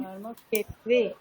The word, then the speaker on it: धर्मक्षेत्रे: ক্ষে ক্ষে মানে ক আর মূর্ধন্য স দুটো হ্যাঁ, ক আর মূর্ধন্য স দুটোকে যুক্ত করলে যে উচ্চারণটা হয় ওরকম করুন। ক্ষ, ক স ক্ষ। হ্যাঁ, ক স ক্ষ, তাহলে ক্ষেত্রে। এখন বলুন। धर्मक्षेत्रे হ্যাঁ, এবারে कुरुक्षेत्रे বলুন, ধর্মক্ষেত্রে।